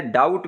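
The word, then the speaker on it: doubt: फिर रिसीट में देखें, इसमें पी साइलेंट है, डाउट में जो है ये बी साइलेंट है।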